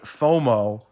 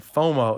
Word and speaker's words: FOMO: which is fomo and you can also pronounce the acronym fomo instead of f-o-m-o because fomo comes out